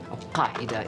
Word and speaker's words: Al-Qaeda: And you can see that you have the authentic pronunciation for Al-Qaeda, because, of course, my family speak Arabic. Al-Qaeda. It's not easy to say, even in Arabic.